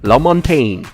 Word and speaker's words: Lamontagne: i guess that's uh like french canadian or just uh maybe a creole la montaigne is how you pronounce